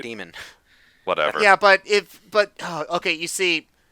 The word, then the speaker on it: Daemon: been everyone pronounce it Damon with an A? Because that's how it's spelled. It has an A. That's not how it's pronounced, though. You're supposed to say it demon.